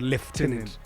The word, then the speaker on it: lieutenant: people say colant Lieutenant Lieutenant Lieutenant liutenant America they say Lieutenant Lieutenant then the the proper pronunciation is from French it's called leftenant oh yes English is a